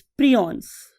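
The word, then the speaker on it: prions: उसका नाम होता है स्टूडेंट्स प्रियॉन्स. बालोग इसे प्रायॉन्स भी बोलते हैं, what ever you want to pronounce. Right.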